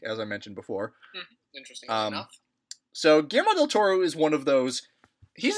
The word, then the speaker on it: Guillermo del Toro: be an interesting experience okay his name is pronounced Guillermo del Toro just wanted to make sure we got that